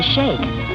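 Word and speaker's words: sheikh: bedan Chiefs I remember the Sheik of araby turned out to be the shake according to Arabic pronunciation well pronounced either way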